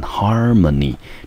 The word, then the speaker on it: harmony: OK，好，这是一个蛮常见的片语。好，接下来我们来看最后一个选项，这个选项念成 harmony，第一个音节在 H-A-R 念成 har，第二个音节念成 ma，第三个音节你中音节落在第一个音节，这个字我们念成 harmony。那 harmony 这个字当作名词，它的意思呢就是和谐或者是协调。我们来看一下它的形容词，这个形容词呢念成 harmonious， O-U-S 结尾的，通常可以当作形容词来看。好，所以我们就知道呢，这个题目的选项我们答案要选择第二个 B conclusion，重点在这个片语，就是 reach the conclusion，达成协议。所以在几个小时的讨论之后，我们的班级最后终于达成了这个协议，我们要去花莲毕业旅行。